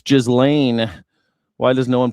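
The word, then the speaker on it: Ghislaine: It's Jizlane. Why does no one pronounce her namely?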